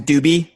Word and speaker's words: Doobie: I mean dude like my last name is doobie by the way that's how you pronounce it which everyone called you